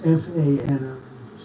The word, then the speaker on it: Fani: She goes by the name of Fani, even though it's F-A-N-I. She wants it pronounced Fani. Little French, French accent, and her lover, Wade, right?